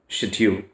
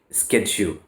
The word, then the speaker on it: schedule: In British English, it is always spoken schedule, but in American English, we speak schedule.